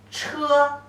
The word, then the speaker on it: 车: 横撇折横竖 The pronunciation is 车车 first tone.